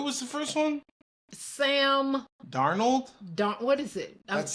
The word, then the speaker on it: Darnold: said that I was like I saw Sam darnold Shannon sharp and I was like those are